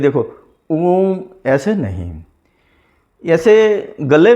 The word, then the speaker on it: ओम: ओम का उच्चारण ऐसे करना है, देखो, ऐसे ऊ का उच्चार सिर्फ 6 या 8 सेकंड तक की करना है, बाकी म को लंबा करना है ऐसे।